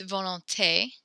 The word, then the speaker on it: volonté: So when there's the accent on the E, then we actually pronounce it. You said, so it's volonté.